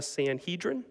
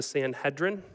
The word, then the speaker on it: Sanhedrin: went before a group in your Bible it's called the Sanhedrin or you might want to pronounce that word the Sanhedrin either way is totally okay but I have to be honest even if you call it the Sanhedrin and that's wrong nobody's going to know because nobody talks about